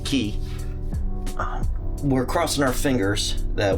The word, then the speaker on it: Cay: It's not K, which is spelled C-A-Y. They pronounce it Key.